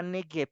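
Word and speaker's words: נגב: a proteger sí eh la palabra negueb sí que no está traducida en nuestras Biblias sino está tal cual se pronuncia en hebreo está en nuestras Biblias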